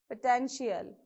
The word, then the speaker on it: potential: So what is this first word? Potential. Okay, so here also the same rule follows. First check how many syllables you have. Potential. Okay, so from end of the word, second syllable. So you have to place on this.